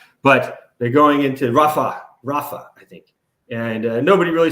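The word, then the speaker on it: Rafah: now they're going straight into fuah or not fuia but Rafa whatever shoot I shouldn't say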